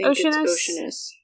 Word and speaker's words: Oceanus: I know sometimes things are deceiving, and I'm like, is it actually pronounced like a sea, like ocean, or is it like Oceanus or something like that?